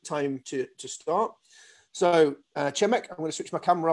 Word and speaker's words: Przemek: pronounce it you can try to me to pronounce the shorter version which is chemic and then the easiest one is so